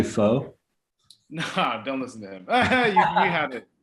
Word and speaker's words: pho: like if and and am i pronouncing is it fun or is it or is it kind of like boy is it different like oh that was perfect yeah it's actually foe no don't listen to